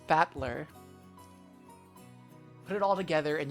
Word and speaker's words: Battler: Oh, so his his name is made up of the characters for fight and person and it's pronounced batler.